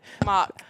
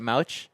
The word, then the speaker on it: Mauch: I'm not I'm not gonna but I butchered Mock.